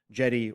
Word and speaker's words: Djedi: Yes, and yeah, D like Jed Pillar. like Jed Pillar, Djed, where, you know, obviously Lucas just dropped the D and made it Jedi. Same pronunciation.